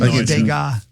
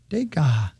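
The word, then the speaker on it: Degas: but woo 13 mil dega it's a good investment dega is how it's pronounced according to this French impressionist uh realist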